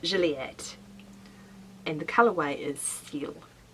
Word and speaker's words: Gilliatt: rear of natira yam I think you pronounce it Juliet and the Callaway is